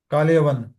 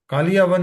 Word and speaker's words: काल यवन: कालियावन। अच्छा, thank you प्रभु। कालियावन नहीं, आपने जो कई दूसरा प्रोनाउंस होते हुए सुना था काल यवन।